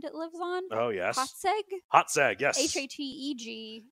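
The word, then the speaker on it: Hațeg: of pronunciations I had to look up the pronunciation of the island it lives on oh yes hot sag yes h-a-t-e-g it's an island that is not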